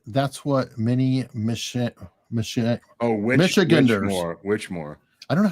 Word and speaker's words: Michiganders: Michiganders? Michiganders. It sounds almost Yiddish. It'd be hard. It sounds like Michigas. It's like Michigas, Michiganders. It sounds like the feminine of Michigas.